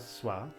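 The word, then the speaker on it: स्वः: It's the H with a little dot under it. And so this is pronounced just as an unvoiced breath. So Bhur Bhuva Swa. Some pronounce it voiced. They say Swaha.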